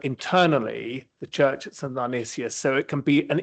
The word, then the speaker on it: Dionysius: I can never pronounce it. Dionysius.